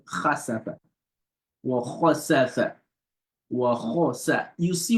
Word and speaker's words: وَخَسَفَ: You see, when you pronounce the kha, you feeling something in your throat, right? So the back of the tongue is raised up to the roof of the mouth.